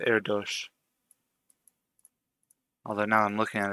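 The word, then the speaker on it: Erdős: Just because I know this name is pronounced Erdos.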